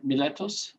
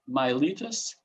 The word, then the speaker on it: Miletos: um an electron stator from miletos or as some other people uh pronounce it miletus um from 650